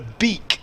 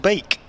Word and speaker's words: Beek: dbkate she says the beak of the Logan variety is pronounced bake two e's together in Dutch is pronounced as an a thank you Ms Brown